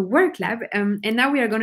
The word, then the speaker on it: WorkLab: with WorkLab, and now, which I realized I pronounced like in German, Werklab, but it's actually not correct. So WorkLab, and now we are going to move on to London.